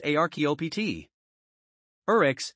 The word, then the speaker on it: archaeopteryx: later scientists unearthed the archaeopteryx pronounced archaeopt urex in a german quarry